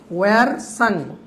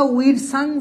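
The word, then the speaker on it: Wirsung: ওয়ারসাং। এখন ওয়ারসাং বা উইরসাং যেভাবে উচ্চারণ করে, বইয়ে মনে হয় উইরসাং আছে, হাস্য ও হাস্যই, রেফ জুনতার সহায়িকা 1900, জানতে হবে।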